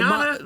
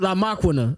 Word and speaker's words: La Maquina: Machiana? La Maquina. That's how you say it on the album.